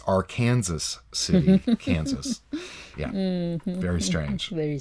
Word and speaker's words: Arkansas City: of Kansas there is a city hmm that is spelled a are ka and SAS but it's not arkansas city is our kansas city kansas mmm very strange